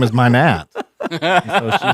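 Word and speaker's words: Mynatt: My name is Minot. How'd you pronounce that? Minot. Minot? Yeah. Well, Minot? My parents always said Minot. That's what I said. But you spell it with an A.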